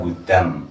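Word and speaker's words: هدى: ya ulaika Al hudam tulisannya Hudan ya dibaca hudam idom dulunah ya ulaika Al hudam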